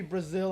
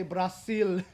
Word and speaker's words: Brazil: Okay, so it is going to be Brazil. I'm not going to say Brasil because that is the incorrect way to pronounce it.